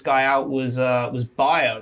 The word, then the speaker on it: Bayer: out was uh was Baer right Baer kind of blew up the other week so for like and you're not saying it the wrong way you're actually saying the right way but Americans say it Bayer oh so like which